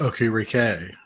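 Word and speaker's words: Okereke: going to go towards okariki yeah that's that's kind of been mine or hey any difference in opinion there it's pronounced okay rickay actually oh listen Mr technical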